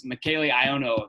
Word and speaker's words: Michele Ionno: here and then joining us today is michaelano did i pronounce that right yes sir okay some of